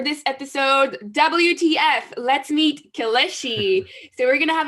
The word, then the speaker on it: Kelechi: Is your name Kelechi? Yeah, that's actually very, very well said. It's closer to the way most people would say it. Most people say Kelechi, but it's Kelechi. You said it right.